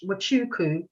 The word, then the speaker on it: Wachuku: i'm talking about and it's it's the end is silent it's what wachuku and then she was